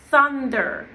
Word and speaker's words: thunder: So in this case, remember the memory of the th So it's not t, it's thunder, right?